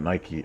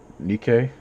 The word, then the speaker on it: Nikke: It's not Nike. Um Nikke. Yeah, Nikke.